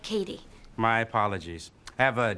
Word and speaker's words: Cady: It's pronounced like Cady.